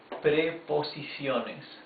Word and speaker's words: preposiciones: Preposiciones. Preposiciones. In normal speed this would be preposiciones, okay? This is formed by 5 syllables. Preposiciones. Okay, the 5 syllables are preposiciones.